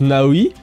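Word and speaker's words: Naoe: disait l'héroine devrait s'appeler naoé qui se prononce naoi mais il pourrait être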